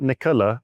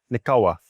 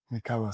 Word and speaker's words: Nikola: And it's not Nikola, it's Nikola. Nikola.